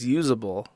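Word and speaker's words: uzbl: with the unix's philosophy it is literally ubl okay I guess it's pronounced usable but it's really hard to articulate that as a URL for people thank you Kurt ien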